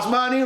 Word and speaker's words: Klaus Meine: Klaus Meine? Yes, Klaus it rhymes with money. Just remember that. It rhymes with money. Klaus Meine rhymes with money.